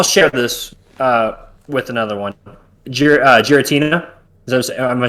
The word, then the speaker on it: Giratina: Giratina. Am I saying it right? No, Giratina, yeah, that's fine.